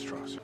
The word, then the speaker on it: Strauss: It's pronounced Strauss.